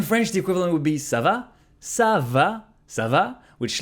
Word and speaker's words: ça va: And you can just reply ça va, ça va, ça va. By changing the intonation, you're actually responding it's going.